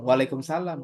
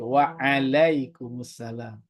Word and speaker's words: waalaikumussalam: Kalau dia salah harus diingatin jangan waalaikumsalam tapi waalaikumussalam.